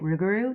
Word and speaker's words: Rougarou: are called the Rougarou, or I will be pronouncing it Rougarou just because That's what I learned, but there's a few pronunciations.